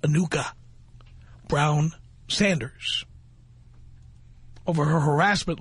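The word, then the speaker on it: Anucha: was a new cup it's pronounced Anika Brown Sanders over her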